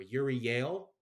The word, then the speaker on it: Euryale: Cethano and, I always pronounce this word name, Euryale, or Uriel, and the remaining Gorgons roused from their slumber and pursue Perseus.